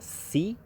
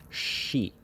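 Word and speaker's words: 시: This is an instance where the S and the I together, it's not pronounced si, it's pronounced she.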